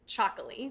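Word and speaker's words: txakoli: T X A K O L I and you pronounce it chocoly. Is that It almost sounds like an Aztec word. Yeah, it's actually Basque.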